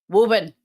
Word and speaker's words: Woburn: Woburn. Woburn. Not Woburn. Woburn.